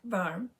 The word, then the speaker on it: varm: It's pronounced varm.